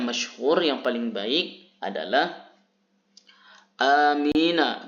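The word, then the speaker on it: أمين: yang paling baik adalah amina bil qasri, huruf hamzahnya dibaca pendek. Wa bi takhfifil mimi, dan tidak mensyiddahkan, tidak membaca huruf mimnya bertasydid. Nah, bagaimana cara bacanya adalah amin.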